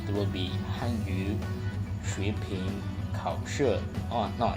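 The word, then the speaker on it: 汉语水平考试: HSK stands for Hanyu Shuiping Kaoshi, or if you want to pronounce it using the right pronunciation with the tones, it will be Hanyu Shuiping Kaoshi. Oh no, it's still not perfect. Hanyu Shuiping Kaoshi, and it will it's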